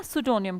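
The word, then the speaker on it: pseudonym: जोनिम के स्पेलिंग को स से नहीं शुरू करते मतलब कि एस से नहीं शुरू करते पी से शुरू करते हैं ना सोनिम क्या होता है लेखक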